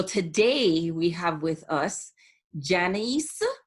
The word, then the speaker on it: Janisse: i appreciate it and i appreciate your name being pronounced like my mother's name janiece not janice and we clarified that